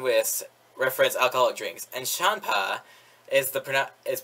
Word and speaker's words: Champa: the beers and whist reference alcoholic drinks and champa is the pronoun is pronounced like the sort of ward champ champagne